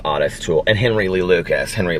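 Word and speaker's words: Ottis Toole: just said honest tool it looks like otis but it's actually pronounced oddest tool and henry lee lucas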